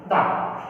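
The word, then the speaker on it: the: बता चुका था कि इसको दो तरह से प्रोनाउंस करते हैं। इसको दो तरीके से प्रोनाउंसिएशन किया जाता है। एक तो होता है इसका द और दूसरा क्या होता है? दी, जो मैं आपको बता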